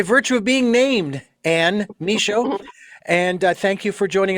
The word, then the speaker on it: Michaud: And Anne, your last name is pronounced Michaud, is that correct? Nope. No, please pronounce that for me. The D is silent. It's Michaud. Michaud.